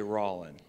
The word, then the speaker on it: Rollin: say what's your name son and I'd say rowling and most the time when people say Rawlin